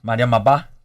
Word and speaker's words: Mariama Ba: Está conosco também a atriz Mariama Ba. Eu falei corretamente, Mariama? Mariama Ba? Mariama Bate, você pronuncia muito bem.